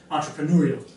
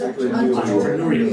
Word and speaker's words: entrepreneurial: just your pronunciation again entrepreneurial ENT entrepreneurial so your stress is on the U there okay entrepreneurial entrepreneur okay guys okay